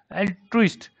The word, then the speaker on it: एल्ट्रुइस्ट: यहाँ पे एल्ट्रुइस्ट, एल्ट्रुइस्ट देखो यहाँ पे एल एल्ट्रुइस्ट एल्ट्रू एल्ट्रुइस्ट एल्ट्रुइस्ट ईस्ट से स्टार्ट करना है, एल ट्रू इस्ट।